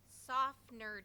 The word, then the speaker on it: Tsafnur: It's pronounced Tsafnur Days.